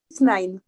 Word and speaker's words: 6ix9ine: Dites-moi si je prononce bien. 6ix9ine. 6ix9ine, ça se prononce. 6ix9ine. 6ix9ine, ça y est, j'ai le bon accent. Américain.